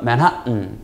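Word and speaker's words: Manhattan: 우리끼리 발음은 맨하탄, 영어식 발음은 맨하튼.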